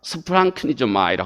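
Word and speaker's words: σπλαγχνίζομαι: 있는 독특한 때문에 그냥 이 말에 올래 그 발음 까지도 소개를 합니다 스 프랑크 미조 마이라 하는 말입니다 이 컴패션 이라고 영어에 그렇게 번역되어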